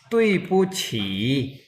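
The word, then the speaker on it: 对不起: डी डी को हम क्या पढ़ेंगे? डी आई, को यहाँ पे डी को ते से, ते की साउंड से प्रोनाउंस किया जाएगा, तो ये होगा तुई।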